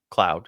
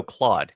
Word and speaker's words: Claude: yeah c c a no Claude Claude not Cloud it's Claude I don't know why I was thinking clous because it's spelled very similar on the way that that kind of works out it's just Claude uh so Claude and